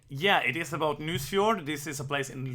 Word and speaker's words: Nusfjord: It's Nusfjord. It's a game about a Norwegian place. So I pronounce it in Norwegian. Yeah, it is about Nusfjord.